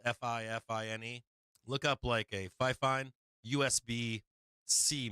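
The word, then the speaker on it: FIFINE: But this Fi-Fine microphone is banger. If you look up I think it's spelled F-I-F-I-N-E.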